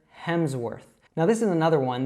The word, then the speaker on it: Hemsworth: So make sure that you're saying that W as a W, not a V, and make sure that you're pronouncing the R correctly. So worth, and altogether, Hemsworth.